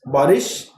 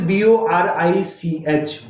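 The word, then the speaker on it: Borich: Borish has actually, Gary de Borish, the pronunciation is Borish. The spelling is B-O-R-I-C-H. Boric, you can call it. Borish, you can call it. So in the American accent, it is called Borish.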